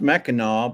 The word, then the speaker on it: Mackinac: yeah so Glinda says it's pronounced Mackinaw but it's spelled Mackinac yes yep yep yep